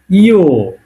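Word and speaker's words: ё: দুইটা ফোটা দেওয়া থাকবে তখন সেটার উচ্চারণ হবে ইও সেটার উচ্চারণ কি হবে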